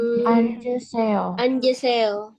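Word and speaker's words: 앉으세요: Tapi kalau dia ketemu sama vokal, contoh misal seperti ini. Anjuseyo. D-nya pindah ke samping. Anjuseyo. Seperti ini ya. Anjuseyo. Cara bacanya. Tapi tulisannya tidak berubah ya, Rebun. Hanya cara bacanya saja yang berubah.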